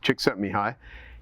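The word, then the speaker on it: Csikszentmihalyi: his day uh and you taught me how to pronounce his name which is Chick set me high and he wrote flow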